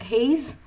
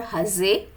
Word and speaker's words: Hasse: century mathematician called as Helmut Hasse or Hesse. Uh like however we want, we can pronounce it. Hesse or Hasse.